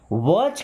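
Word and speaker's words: watch: वॉच carefully. देखिए यहां पे टी साइलेंट है ना।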